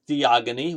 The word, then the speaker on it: Theogony: written by an ancient greek called hesed it's pronounced theogony which comes from the greek word theos meaning